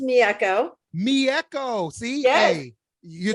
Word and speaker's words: Mieko: It's actually pronounced Mieko.